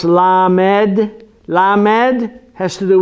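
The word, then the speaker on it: ל: just a coof so we see the lawmen pronounce la med la med has to do with learning you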